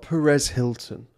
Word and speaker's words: Perez Hilton: Is it not pronounced Paris Hilton? Oh, you naive man. There's a gossip blog that's been running for years called Perez Hilton.